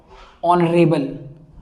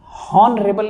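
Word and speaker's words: honourable: इसलिए डेस्पिकेबल का पहला वर्ड मैंने डिसेंट का, हाँ देखिए यहाँ डिसेंट लिखा हुआ है, डिसेंट, रिगॉर्ड, ऑनरेबल। हॉनरेबल नहीं होता है, इसका जो प्रोनाउंसिएशन होता है, एक बात याद रखो, प्रोनाउंसिएशन नहीं होता है, प्रोनाउंसिएशन होता है।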